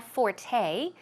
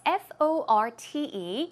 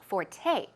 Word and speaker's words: forte: word forte okay it's fo r te but it's pronounced Forte the stress goes on the second syllable okay it's not Fort